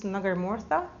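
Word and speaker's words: nagarmotha: There's a feeling like it's woody, but I know that this is nagarmortha.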